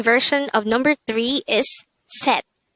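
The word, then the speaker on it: 셋: another see a character if you notice the ending sound of see it is actually a t sound and if the c character is located on the third position of the syllable it will have the t sound therefore this is pronounced as set and not says and that is number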